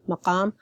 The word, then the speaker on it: Maqam: it's an Arabic word, I pronounced it formally, Maqam. And because I speak Iraqi variation, I tend to keep the qa sound, because the Iraqi dialect keeps the pharyngeal sounds and is heavy in that sense.